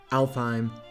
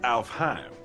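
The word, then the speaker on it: Alfheim: being sword art online alphine uh actually is pronounced alf heim gun gale and underworld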